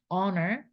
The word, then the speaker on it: honor: The wise inherit honor, H 묵음, honor, H는 소리가 안 나요.